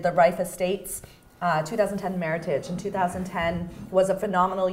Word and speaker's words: Meritage: it's not is it it's actually Meritage like Heritage yeah it's right it's to rhyme with Meritage and do you mind